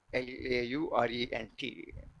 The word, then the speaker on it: Laurent: L-A-U-R-E-N-T. The last part you pronounce as wrong. Laurent.